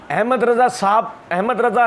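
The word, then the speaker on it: احمد رضا: मिर्ज़ा जी ने पार्ट 1 के अंदर एक जगह ये बात कही थी, ये अक्सर कहते हैं सारे मौलवी, अहमद रज़ा खान साहब ने लिखा है, ये सारे बरेलवी देवबंदी अहले हदीस शिया चारों ये गलत प्रोनाउंसिएशन करते हैं।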